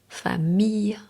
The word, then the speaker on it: famille: le Quand I de L est précédé d'un I, la prononciation habituelle est un son doux proche du Y. Famille, fille, brouillard, veille.